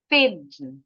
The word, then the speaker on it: thin: And let's take a look at the first word, thin. Thin, ujung lidah harus keluar.